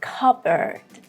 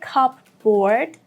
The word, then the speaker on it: cupboard: It is cupboard, cupboard. Don't say cupboard. No, I know that it seems like matching 2 words together and making a new word, but the pronunciation is different. We do not pronounce P here at all. And it's not board, it's bird. So this is cupboard. The first part is more stressed.